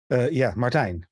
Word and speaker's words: Martijn: Martijn, rhymes with design.